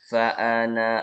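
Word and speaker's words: فأنا: Kemudian di contoh yang kedua, fa'ana awwalul abidin. Itu dibaca pendek. Kalau berhenti, terpaksa berhenti di sini, fa'ana. Seperti itu panjang. Tapi kalau lanjut, dia dibaca pendek.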